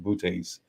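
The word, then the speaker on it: Boötes: I think it's pronounced Bootes.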